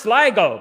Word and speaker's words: Sligo: It's pronounced Sligo.